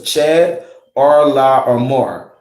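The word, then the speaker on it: Chedorlaomer: Just pronounce each one the way it's broken down. So it's Chad, Arla, or More.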